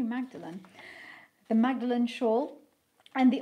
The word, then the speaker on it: Magdalen: So far, I've had several high-profile customers, as well as made weavings for Magdalen. I'm pronouncing it the Oxford way. Is it different in Cambridge? It might be Magdalen.